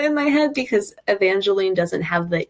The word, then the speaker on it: Evangeline: But in my head, I pronounce Evangeline with that, like the Evangeline, so that therefore Ava is Ava, which I know sounds like it should be the AVA.